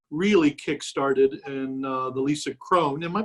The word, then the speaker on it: Kron: know got you really kick-started in the lisa krone am i pronouncing your last name right yeah exactly yeah